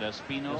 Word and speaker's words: Espino: Is that how you pronounce that, Espino? Espino. That's what I was told by Bill White.